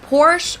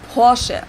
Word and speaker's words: Porsche: located in stutgart Germany I've heard Americans pronounce it Porsche or Porsche in German we say Porche so there's like this short a sound in the end Porche it was founded by